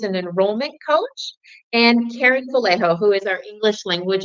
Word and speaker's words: Vallejo: I'm Karen Vallejo, that's the California pronunciation. I do answer to Vallejo or Vallejo, either one.